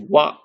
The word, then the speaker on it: は: Okay, so when ha is being used as a particle in a sentence and not part of a word, it's pronounced as wa, like in water.